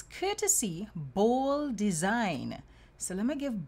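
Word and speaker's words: Bhol: of flip it's courtesy bowl design so let me give ball design it's spelled b h o l design so it sounds like bold design right maria bola the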